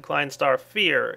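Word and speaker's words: Klein Star Vier: it in my client star ve fear whatever it is yes many people posted Klein star fear is the proper pronunciation of that thing uh that's cool I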